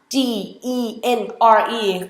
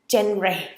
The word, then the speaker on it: genre: The first word that I would like to highlight today อาจารย์ขอแนะนำวันนี้น้องนัชชาขอเสนอคำแรกคือคำว่า G-E-N-R-E ขึ้นตรงนี้เลยแล้วกันเนาะอ่านว่า genre กินรี genre I think you guys